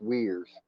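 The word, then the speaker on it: Uyghurs: genocide against the the weirs that's that muslim group right no it's uh well yeah yeah it's like u-u-i-g-h-e-r or something but it's pronounced weirs yeah i saw somebody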